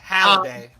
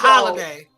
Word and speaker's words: Halliday: Yeah, Halliday, not Holiday.